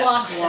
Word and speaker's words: Gloucester: It's probably Gloucester, like Worcester.